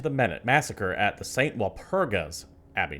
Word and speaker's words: Walpurga: Walpurga's Abbey. Not Walpurgis, Walpurgas.